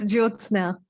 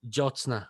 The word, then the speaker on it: Jyotsna: own book, links below to connect with I've mispronounced your name again. Apologies. it's Jyotsna. Jyotsna.